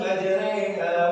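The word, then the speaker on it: مجريها: ketika membaca ayat ini cara bacanya bukan bismillahirohmal bukan begitu tapi Bismillahi majreha wa mursaha Maja re paham tidak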